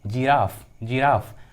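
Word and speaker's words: giraffe: ठीक है, अगला एग्जाम्पल देखिए, जिराफ। यहाँ पर देखिए जी के बाद क्या है? आई। तो यदि किसी इंग्लिश वर्ड्स में जी के बाद आई आता है तो जी का उच्चारण क्या होता है? ज। यहाँ पर देखिए ट्रिक क्या है, जी के बाद आई आएगा तो जी का उच्चारण ज होता है।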